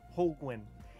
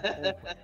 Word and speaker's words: Holguin: Holguin. It's like a penguin. Penguin, Holguin. Yeah. Holguin.